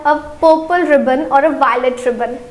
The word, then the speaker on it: violette: For the feminine it is V-I-O-L-E-T-T-E and the pronunciation is violet.